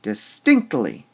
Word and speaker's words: distinctly: or would we say distinctly all right we emphasize the stink part all right stinked lee